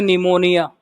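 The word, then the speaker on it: pneumonia: नमन से निमोनिया। बोलो नमन से क्या बन रहा है? निमोनिया का जब लिखोगे तो पी साइलेंट आता है, सही ना?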